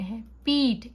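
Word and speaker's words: hope: ऑप, हॉप, ओप, होप, ओ को हम long पढ़ रहे हैं, ओ साउंड, होप.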